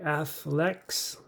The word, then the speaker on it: Athlex: Today I have the Caseology Athlex case review for you for the Pixel 7 Pro. Now it is spelled. It's the Caseology brand, and in the series is Athlex, like athletics, but it's ATHLEX.